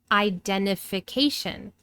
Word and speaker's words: identification: Identify changes to identification. identification. Wow, 6 syllables.